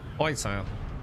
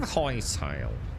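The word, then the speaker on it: Hytale: Whitetail. It's spelled H-Y-T-A-L-E. It's, ooh, spice. That's a long way from home, though, isn't it? That's a long way from home. So, think of Hightail as...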